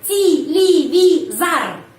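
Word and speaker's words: телевизор: Terus televizor. Tetapi bacanya televizar. Kenapa? Karena Y tidak mendapat penekanan.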